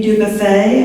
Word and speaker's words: Dubuffet: Oh, Dubuffet, I was close, okay.